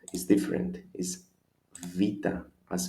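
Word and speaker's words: Βήτα: The pronunciation is always an A as in apple, alpha, apple. Number 2, Vita, although it is the same, we can say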